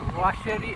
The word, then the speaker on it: Bois Cherri: वाशेरी BOISCHERRI बॉईशेरी असा spelling होतं त्याचं, पण त्याचा उच्चार वाशेरी असा होतो.